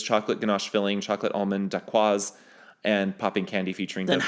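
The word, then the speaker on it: dacquoise: Also, for the record, it is not daqua. It's a daquaz.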